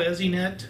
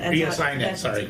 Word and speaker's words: ESInet: It's called EZNet. And Joey, I'm going to let you describe EZNet as best you can. Or you want me? I can give my shot at it. Actually, it's ESINet. ESINet, correctly pronounced.